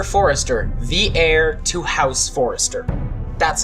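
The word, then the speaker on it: Forrester: the with Gregor Forester the heir to house Forester that's how you say it the two grew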